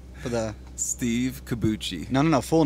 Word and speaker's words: Cobucci: Kabuchi.